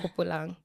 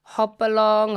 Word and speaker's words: Hopelang: Yeah. Hopelang. It's either Hopelang, Hopalong, Hopelang, all other variations that are anything but Hopelang.